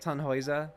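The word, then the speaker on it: Tannhäuser: Uh Tonhauser. And I know that it could also be like tonoa, right? If you're doing, I think, a more German pronunciation, like helping people in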